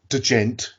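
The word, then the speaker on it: djent: Sixth, for the reason that the gent, we've got to say it like that because that's how it's spelled, scene kind of exploded here in the UK.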